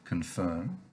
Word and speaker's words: confirm: that here's the word confirm and again the o in the con is pronounced in english like a schwa an uh sound but there's also the